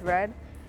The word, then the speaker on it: Rhed: inspired by the artist red spelled rhed like for head but pronounced red and i've been doing